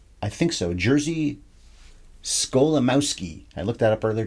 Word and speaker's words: Jerzy Skolimowski: Jerzy Skolimowski. I looked that up earlier, tried to remember how to say it. Had to look at the notes anyway. Skolimowski is his name.